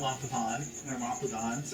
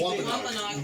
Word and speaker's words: Wampanoag: wants to have the village go against the Wampagons or whatever. I don't remember. I can't exactly say it correctly. I think you're And he Wampanoag.